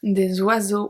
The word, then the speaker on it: oiseaux: Un oiseau, des oiseaux. We obviously don't pronounce the X.